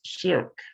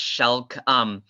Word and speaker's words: Shelk: It's actually pronounced Shelk. A good way to remember how to pronounce it. Oh, no worries, no worries. Is just imagine an elk going shh and reverse it. And that's how you pronounce my last name.